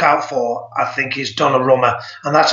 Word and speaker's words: Donnarumma: The one player to look out for, I think, is Donnarumma, and that's how you pronounced it, Donnarumma.